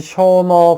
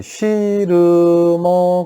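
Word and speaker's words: Schirmer: 자, 두 번째 양적 검사는 셔머 검사이고요. 이렇게 쉬르머 검사라고도 하니까요. 뭐 똑같은 말이에요. 여기 영어로 이렇게 그 표현된 말을 이렇게 우리말로 바꿀 때 그 차이니까요. 발음의 차이니까요. 뭐 셔머라고 하든 쉬르머라고 하든 그런 관계는 없을 것 같습니다.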